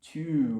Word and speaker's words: tube: we call them the Toob Toob Toob okay so that's T ube and the U is pronounced long and it's to you where's the nearest tube